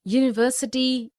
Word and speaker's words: university: unicorn a useful article because these words university union european eu unicorn useful begin with a consonant sound similarly we see a